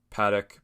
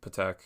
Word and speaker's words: Patek: the two songs are called paddock patek whatever you want to pronounce it oh it's like patek philippe but it's like it's called uzi calls it paddock but it's whatever p-a-t-e-k and any other song